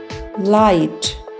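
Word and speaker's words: light: एल आई जी एच टी लाइट जी H silent है एल आई जी एच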